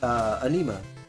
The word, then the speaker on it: Anima: Anima, pronounced anema. It's anema.